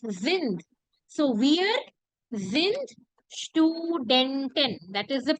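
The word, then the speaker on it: sind: you can see here what is the pronunciation for this is then very good so it is zinned so weird that is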